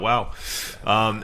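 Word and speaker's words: Waugh: That's actually his name, Scott Wow. Never heard of him, but I thought he saw the name and was like, aghast. I can't pronounce this. No, it's, Wow. It's actually Scott Wow.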